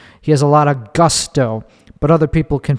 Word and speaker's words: Gusto: I pronounce it Gusto because it's the English word.